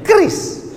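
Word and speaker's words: QRIS: Q ris cara bacanya gimana sebetulnya? Kris. Q-nya quick.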